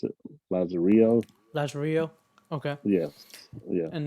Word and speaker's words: Lazarillo: Lazar, how you pronounce it? Lazarillo.